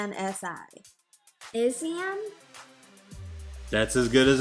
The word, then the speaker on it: Anansi: seems like this is the January, and I'm going to let you try to pronounce the, The name, the, that right there, yes. it's Anansi.